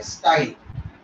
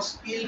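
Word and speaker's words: style: इसको हम बोलते हैं स्टाइल, कुछ लोग इसको स्टील भी प्रोनाउंस करते हैं, इसको जो असेंट अच्छा लगे वो यूज कर लो। स्टाइल, स्टिग्मा, स्टाइल, स्टील भी बोल सकते हैं।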